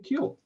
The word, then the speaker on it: Kuehl: welcome Johnny and Colleen Kiel I grew up it's pronounced Keel but if you do go to Germany they they put little till days over it and it's pronounced cool over in Germany so